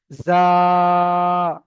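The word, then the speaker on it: زاي: তো এই অক্ষরটার নাম হলো জা। চেপে উচ্চারণ হবে, জা।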